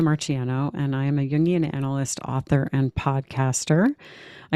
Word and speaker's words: Jungian: You're going to have to help me pronounce that because I've been trying to say it, but Jungian. Jungian. Jungian. Yeah. Okay. Jung is the German word for young, actually.